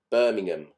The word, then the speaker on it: Birmingham: Now, in England, with towns that end in ham, we tend not to pronounce the H. So Clapham, Birmingham.